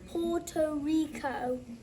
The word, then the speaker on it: Puerto Rico: It sounds like Costa Rica, right? But it's pronounced Puerto Rico.